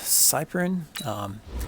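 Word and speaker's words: Cyprien: Okay, so we have this guy here, Jonathan Cyprin. That's how you pronounce the name.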